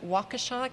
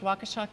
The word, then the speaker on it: Waukesha: where our Latino populations are and for comparison Waukesha County that's how it's pronounced Waukesha County directly to the west of Milwaukee county